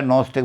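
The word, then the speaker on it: gnostic: दिया नॉन स्टिक Bhim G एन ओ एस टी आई सी घी जो है वह साइलेंट रहता नॉन स्टिक बन जाता है उसको हिंदी में कर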